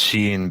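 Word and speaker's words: Shein: at a fast fashion they are and it's pronounced Sheen bill I can tell that you haven't been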